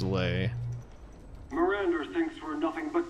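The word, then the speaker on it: Lei: I keep wanting to say Lee, but I'm pretty damn sure it's pronounced lay.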